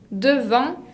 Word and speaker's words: devant: proposition de lieux c'est devant devant avec un des finales qui ne se prononcent pas devant s delante devant